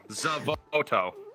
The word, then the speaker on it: Xavoto: Zavoto.